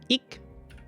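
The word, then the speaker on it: 읽다: Donc ilta, si vous l'avez compris, ilta, vous avez il, ik, parce que le L se prononce pas, bon ça c'est pas très important.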